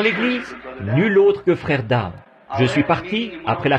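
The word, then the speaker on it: Daugh: tente, j'ai dit, frère Dow, est-ce que vous m'entendez? Il a levé les yeux vers moi. C'est un Allemand, et à vrai dire, son nom c'est D-A-U-G-H. Mais moi, je le prononce simplement Dow, vous voyez.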